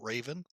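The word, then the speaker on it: Ravn: now called raven r-a-v actually r-a-u-n but they pronounce it raven so uh hope to have a good time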